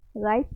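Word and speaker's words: riots: बोलते हैं guys, राइट्स, इसको राइट्स प्रोनाउंस करेंगे, मैंने प्रोनाउंसिएशन में बताया था, आई के बाद हुआ है लेकिन आई का ही साउंड आएगा, राइट्स।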